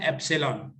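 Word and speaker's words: epsilon: ये सिंबल है बेटा, ग्रीक अल्फाबेट है, इसको प्रोनाउंस क्या करना है? इसको आपने प्रोनाउंस करना है एप्सिलॉन।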